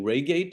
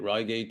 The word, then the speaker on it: Reigate: arts advertising and art direction at, do you pronounce it Reigate School of Arts? Reigate.